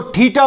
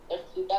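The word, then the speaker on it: theta: यदि मैं यहां एंगल x या थीटा लिखूं, इसको थीटा प्रोनाउंस करते हैं.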